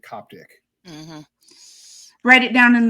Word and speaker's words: canopic: And we call the actual spelling is canopic, so Canopic, canopic jars, but everyone I've ever heard pronounces it Coptic.